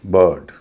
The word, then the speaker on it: bird: पहला नियम, आई जब दो कॉन्सोनेंट के बीच में हो लेकिन अगला कॉन्सोनेंट आर हो तो आई का उच्चारण ई न होके अ होता है।